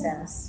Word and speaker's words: SaaS: It's pronounced SAS, so.